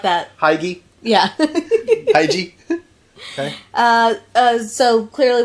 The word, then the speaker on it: hygge: So apparently it's a Danish word pronounced hygge, Disagree. which I would not have pronounced it like that. Hygie.